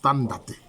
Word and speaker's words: Tano: En fait, c'est Tano, mais on prononce Tandate.